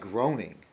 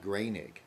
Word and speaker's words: Groening: Matt, the creator of The Simpsons, it looks like Groening, Matt Groening, or but he pronounced it Matt Groening. The O-E is A.